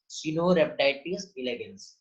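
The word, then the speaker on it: Caenorhabditis elegans: ये जो दिया हुआ है सिनोरेप्टाइटिस इलेगेंस, कई लोगों को बेटा प्रोनाउंस करना नहीं आता, क्या बताया है? सिनोरेप्टाइटिस इलेगेंस।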